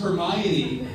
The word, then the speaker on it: Hermione: could never pronounce yeah it wasn't until the movie came out and i realized it was pronounced hermione but by then i